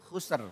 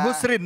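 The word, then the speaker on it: خسر: Wal asr asr asr Innal insana lafil khusr khusr oh bukan husrin bukan ya Oh kan su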